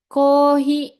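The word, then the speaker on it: コーヒー: lanjut ada cokoreto ada kohi nah penulisannya kan Kofi ya kafi gitu ya tapi dibacanya orang Jepang jadinya kohi alias kopi gitu terus ada o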